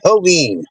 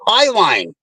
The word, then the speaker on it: Highline: l i n e and every single map pronounces it hen take a left on holen it's like no it's not holen it's Highline got another Street we got